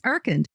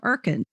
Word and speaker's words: Urkund: Today's sponsor is Erkend.